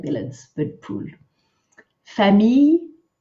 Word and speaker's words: famille: Famille, make sure you don't say famille, famille, two syllables, the M, E, I are all in one, me, famille.